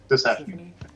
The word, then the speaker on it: Tisiphone: How do you pronounce her name? Persephone? Tisiphone.